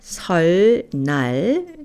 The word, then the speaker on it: 설날: 설날, New Year's Day, is pronounced 설날.